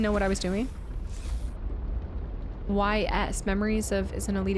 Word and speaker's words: Ys: YS Memories of is an Elite Experience. Ball Knowledge Detected. What? What is YS? Ease. Oh, Ease.